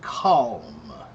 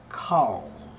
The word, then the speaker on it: calm: Christine, how to pronounce the word calm? Calm. Calm. Make them big a aaa sound. Ah ah a call.